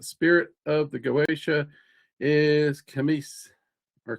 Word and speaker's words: Cimeies: So, um the 66th spirit of the Goetia is Camis or Camies. Camies. Uh that's Yeah, Camis is usually Camie. Now Camis is how I've always heard it pronounced.